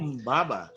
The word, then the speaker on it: Humbaba: Humbaba. And that's actually how they pronounced it. Right? So that's how they pronounced it 5,000 years ago.